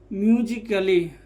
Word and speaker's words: musically: यदि ए के बाद डबल एल वाई आए तो ए साइलेंट होता है। जैसे MUSICALLY, म्यूजिकली। ये क्या होता है? म्यूजिकली, ना कि काली।